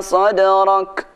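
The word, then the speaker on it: صدرك: Alam nashrah laka sadrak. Alam nashrah laka sadrak. Ayat pertama, ayat kedua, ayat ketiga, ayat keempat diakhiri dengan huruf kaf. Cara membaca kaf mati dan tak mati ada sedikit desisnya.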